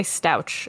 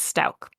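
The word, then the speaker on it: Stauch: remember Stout stouch yeah I'm sure it's Stout I always say stouch in my head when I'm reading it because that's how it's spelled but it's Stout yeah but um if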